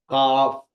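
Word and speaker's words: ق: pronounce किया जाता है काफ हलक से निकालिए काफ काफ तो आपकी यही चीज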